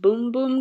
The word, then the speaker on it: Bum Bum: Sol de Janeiro Brazilian Bum Bum Cream. I'm sorry, at least 3 different people have told me it is pronounced Boom Boom Cream, but I still somehow managed to forget.